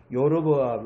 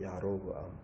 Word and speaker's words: 여로보암: 우리가 여로보암을 많은 심지어는 영어 발음도요. 요르보암 이렇게 돼 있어요. 그런데 이걸 여로보암을 정확하게 발음하면요. 야로브암이에요. 야로브암. 앞에는 장음이고 뒤에는 장음이니까 이게 단음이 돼서 오가 되고 야로브가 끊어지고 야로보암. 그런데 이 야로보암을 발음하니까 여로보암 같이 들리기도 하고 이런데, 근데 이 여로보암의 길을 따랐다.